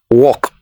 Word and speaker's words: walk: walk it is wrong the L is silent so it is walk the next one this